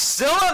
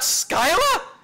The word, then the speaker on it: Scylla: Scylla? That's how it's pronounced? Scylla, not Skyla?